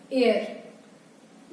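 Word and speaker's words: heir: एक वर्ड यहाँ पे मैंने लिखा है एयर। इसमें भी एच साइलेंट है, ये हेयर नहीं है, एयर है और ई की साउंड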